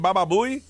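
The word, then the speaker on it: Baba Booey: Baba Buouie. Baba Buouie.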